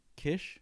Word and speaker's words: Kitsch: Kish. Kish? Yeah, it's with a T, right? Yeah. Okay, because I'm always like Kish, Kirsch.